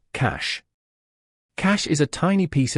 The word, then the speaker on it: cache: Pronounced cache.